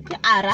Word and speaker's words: Ara: it but santi ba mpotse maybe ba go pronounce Ara. Ara.